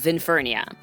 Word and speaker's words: Vinfernia: V I N F E R N I A. I know how to spell it.